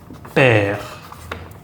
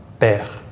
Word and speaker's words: père: It's not as open as the A, it's eh. And you'll see this, for example, in words like père, father, mère, mother, eh. So this is a case where the accent does distinguish pronunciation with the E. The eh, père, mère, for example.